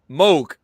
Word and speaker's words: Moog: last name right uh say it again moog that's absolutely how we pronounce it that's it good uh